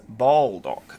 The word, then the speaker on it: Baldock: be driving we're going to be driving to Baldock uh which is how some lovely person in the comments told me that's how you pronounce it not bad or Baldock it's a Baldock apparently uh v-a-l-l space dock that's uh that's